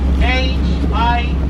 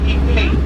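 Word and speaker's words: Higüey: And the city from this province, we spell it H-I-G-U-E-Y. We don't pronounce the H, we pronounce it Higuey.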